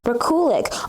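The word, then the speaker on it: Rekulak: Let me see how you pronounce it and such, because I'm not too sure how you pronounce it. Let me see. Rakulik.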